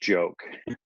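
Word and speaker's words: Giauque: joke this this guy's name is joke it's pronounced joke right and um he was canadian but because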